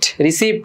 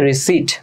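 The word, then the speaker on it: receipt: তোমরা অনেকে এটার ভুল উচ্চারণ করো এভাবে যে রিসিপ্ট বলো, এটা রিসিপ্ট না, এটা হচ্ছে কারেক্ট প্রনাউন্সিয়েশন হচ্ছে রিসিট।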